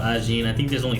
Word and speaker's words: Ajin: There's different ways of pronouncing it, but then the characters, how they pronounce themselves, are Ajin.